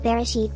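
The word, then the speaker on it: בראשית: In Hebrew, Genesis 1:1 is pronounced as Bereshit bara Elohim et Hashemayim v'et haaretz.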